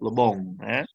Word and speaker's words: Le Bon: Nah, tokoh-tokoh yang membicara tentang teori collective behavior atau collective behavior theory adalah Gustave Le Bon. Bacanya Lebong karena orang Perancis.